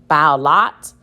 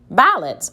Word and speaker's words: ballot: So I know that's probably short. Lot. That doesn't sound right. Let me try it with the schwa sound. Ballot. Oh, I know what that is. A ballot.